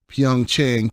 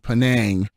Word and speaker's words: Pyeongchang: I try to make fun of Secretary of State Rex Tillerson when he would pronounce Pyeongchang, Penang, and I mispronounced it in the interview when I was talking to Samara.